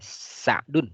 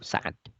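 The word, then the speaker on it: سعد: Jadi Sa'ad bin Abi Waqqas itu nggak ada alifnya. Ya, Sa'dun sebetulnya. Sa'dun ibnu Abil Waqqas. Ya. Kalau ada alifnya dibacanya Su'ad. Kalau tidak ada alifnya dibacanya Sa'dun atau Sa'ad. Kalau ada ya-nya nanti dibacanya Sa'id.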